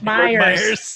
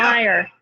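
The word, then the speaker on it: Meijer: People who put an S on the end of retail stores Myers. for no reason. Yeah, Is it just Meyer? Did I say it wrong? it's Yeah. Meyer.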